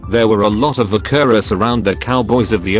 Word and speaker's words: vaquero: Related real fact: the term buckaroo is an anglicization of vaquero, pronounced very roughly like vaquero.